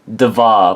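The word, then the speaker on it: Dvar: Devar, which is spelled D-V-A-R.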